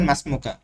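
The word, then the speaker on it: ما اسمك: ভুল ধরে দেই ভাই মা ইসমুকাকে বলবেন মাসমুকা মা ইসমুকানা এই আলিফ উচ্চারণে আসবে না ইসমি আলিফ মাসুক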